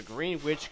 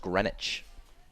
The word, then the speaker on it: Greenwich: of the year for the Green Witch, Connecticut native. Believe that's pronounced Greenwich. And how do you know that? Uh I just know that. You just know. Okay, I'll go with that. Greenwich.